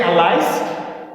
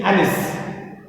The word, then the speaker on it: Alice: about alice about alice some say allies but then better one and proper pronunciation is alice okay alice down the